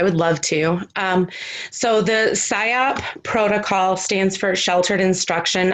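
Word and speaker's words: SIOP: program, is the PSYOP. Am I pronouncing that?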